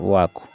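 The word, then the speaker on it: walk: ठीक इसी तरह से देखिए यहाँ पर वाक, डब्ल्यू से हो गया वाह, और ए से अ की मात्रा वाह, एल को नहीं पढ़ना है, एल क्या है? साइलेंट है, किसी का हो गया वाक, वाक मीन्स टहलना।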